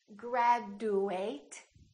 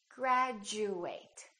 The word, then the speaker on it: graduate: saying ju for example we don't say graduate it sounds like we're saying graduate repeat after me graduate